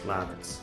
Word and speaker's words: Lavitz: right love it lavitz lavitz with an ah it's an ASAP she